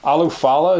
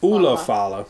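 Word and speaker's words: Ula Fala: We got the Alufala. Is that how you say it? Ulafala.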